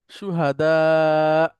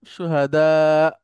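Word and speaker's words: شهداء: শেষে জবরজের পেশ আছে এবং ওটা যাই থাকুক না কেন, হামজা থাকলে, হামজা যখন সুকুন হয়ে যাচ্ছে তখন আর সে উচ্চারণ হচ্ছে না, একটুখানি ধাক্কা দিয়ে পড়তে হয়। হ্যাঁ? সুহাদা, সুহাদা, সুহাদা, এভাবে।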